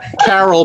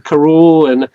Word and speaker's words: Karoul: Yeah, I pronounce it Carol, but I answer to Karoul, and I've had people